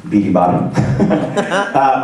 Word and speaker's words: BTBATU: As you can see, we have a hashtag BTBATU, pronounced Beaty Bottom.